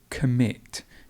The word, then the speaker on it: commit: we've got the word commit commit and the stress goes at the end so it's commit commit and then we have